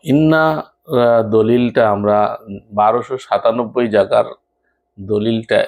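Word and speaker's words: إنّا: এরপরে আরেকটা শব্দ পাশাপাশি সেটা হচ্ছে ইন্না। ওটা ছিল জজম দিয়ে। আর এটা হচ্ছে তাসদিদ দিয়ে। নুনটাকে দুইবার উচ্চারণ করা হচ্ছে।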